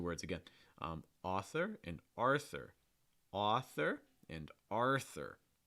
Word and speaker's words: Arthur: So my suggestion is, pronounce the R sound first, then you can worry about the TH. R, Arthur, Arthur.